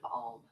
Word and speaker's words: Om: Okay, and it's an ah, oo, sound. 3 different syllables.